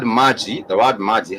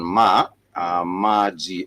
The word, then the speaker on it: maji: But the word maji has that ma and g, which is the syllables, the alternating vowel sound. Ma, let me just put it down. Maji, M-A-J-I, maji, which is ma with the syllable a, and g with the syllable e.